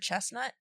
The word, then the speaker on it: chestnut: was about the word chestnut. Which I said we should start pronouncing the T, because then you get chestnuts, and isn't that fun?